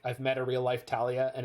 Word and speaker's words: Thalia: it differently right but i know for a fact that thalia is talia like i've met a real life talia and it's spelled with